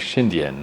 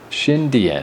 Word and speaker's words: Xindian: Now I know, I was saying like Xindian, like trying to say it too fast. Like Indian with a sh. Xindian.